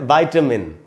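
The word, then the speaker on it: vitamin: तो हम इसको पढ़ेंगे विटामिन। विटामिन, इसको विटामिन नहीं बोलना चाहिए, वो एकदम गलत उच्चारण है। अच्छा दोस्तों ये ब्रिटिश इंग्लिश है, अमेरिकन इंग्लिश में इसको बोलते हैं वाइटामिन।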